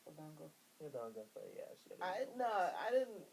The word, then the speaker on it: odango: like beatball buns and I was like whoa odango is how it's pronounced odango yeah I no I didn't no I didn't